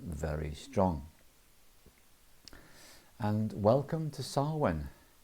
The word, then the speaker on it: Samhain: And welcome to Samhain. It's spelt Samhain.